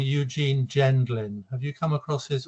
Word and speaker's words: Gendlin: He was Gendling with a G or a J? With a G. G. I think it's a soft. Some people say Gendlin, but I think it's a soft G.